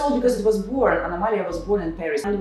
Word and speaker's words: Anomalia: We say Anomalia when someone has a different thing. But you have the same pronunciation, right? Anomalia. It's the same. So it's very easy for Spanish.